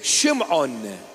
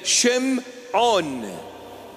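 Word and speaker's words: שמעון: Aramaic syak text is Shimon that's the proper pronunciation of the name Shimon it is a compounded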